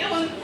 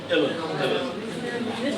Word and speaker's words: uilleann: Yeah, say uilleann. So that's how you pronounce it. If you see someone write out uilleann pipes. Yes, uilleann.